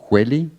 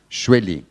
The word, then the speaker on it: Shueli: Hueli? It's fine. It's Shueli.